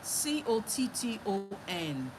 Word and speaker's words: cotton: Now the second syllable is as if there is no vowel there, but there is supposed to be a vowel. So that N will now act like a vowel.